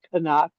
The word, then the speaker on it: Knock: And then and the fact that they call him Canuck because you don't there's no silent uh there's no silent letters in German.